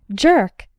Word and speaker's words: jerk: The J sounds like in the words juice, jam, and journey. And the letters ER sound like in the words were, learn, and bird.